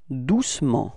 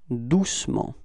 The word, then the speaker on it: doucement: And then the adverb, doucement, repeat, doucement. Okay, so it's the same thing. We don't really pronounce the E between C and M, okay?